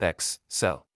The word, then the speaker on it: Excel: Excel is pronounced X-cell.